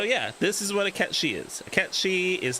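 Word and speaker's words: Cait Sith: That although we were the inspiration for that character, and it is pronounced Ketchi. It is not pronounced Kate Sith, unlike what Square Enix has decided to say.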